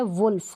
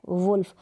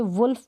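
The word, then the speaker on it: wolf: तो यहां पर देखें इसको हम पढ़ेंगे यह देखिए इसका उच्चारण लिखा है है वुल्फ क्या लिखा है वुल्फ अब इसको वाल नहीं पढ़ेंगे ठीक नहीं पढ़ेंगे वुल्फ पढ़ेंगे वॉल्वेस हो जाएगा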